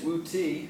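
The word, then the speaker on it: Wudi: Another famous ruler of the Han Dynasty is Wu Ti, or often you see it pronounced Wu Di as well.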